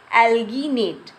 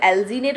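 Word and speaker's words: alginate: क्या प्राप्त किया जाता है, एल्गिनेट, ठीक है ना। इसे एल्गिनेट बोल लो या फिर एल्जीनेट बोल लो, ठीक है ना।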